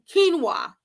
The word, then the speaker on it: quinoa: to be like oh that's what that is q-u-i-n-o-a quinoa that's how you pronounce it and it's like people use it